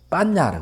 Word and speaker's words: 반야: 해를 갖다가 빤야라 그러죠. 빤야라는데 발음을 이제 하면 그냥 반야라는 발음을 하는데 이 안에 사전을 찾아보시면 아시겠지만 해락하는 걸 분석이라는 분별의 의미가 들어가 있어요. 그럼 잘못해가지고 이 반야를 분별 망상으로 착각해버리면 안 되는 거죠.